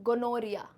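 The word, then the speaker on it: gonorrhea: है बीमारी का बोलोगे मैं स्पेलिंग अलग दिख रही है प्रोनाउंस अलग कर रहे हो अब ऐसा ही प्रनंसीएशन है तो बोलोगे ये मेरी किसी दोस्त का नाम है रिया पर वो वाला रिया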